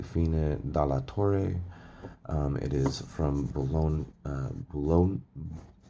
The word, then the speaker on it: Bologna: dalatore it is from bologna uh bologna blagna bologna bologna bologna i think bologna is how you say that from the museo international